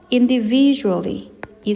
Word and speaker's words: individually: individually이 세 번째 음절에 강세를 두시면서 마지막는 부드럽게이어서 발음해 주시면 되겠습니다.